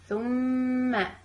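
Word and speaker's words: ثُمَّ: Thumma, pronouncing letter with sukoon, then letter with fatha, thumma, and also keeping the ghunna sound for both of them.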